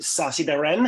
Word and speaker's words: Sacitharan: the distinct pleasure of being joined by sasi Baran how are you today very good and and congratulations pronouncing my second name um on my surname